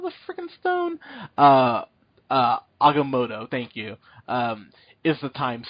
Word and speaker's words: Agamotto: Agamotto.